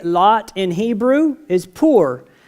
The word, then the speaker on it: pur: Is pur. How do you say lots, plural? Is purim. Pur is one lot.